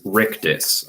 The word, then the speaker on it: Rictus: character just in case it's hard to hear me pronounce it on the webcam it's rictus r-i-c-t-u-s rictus harvey couldn't take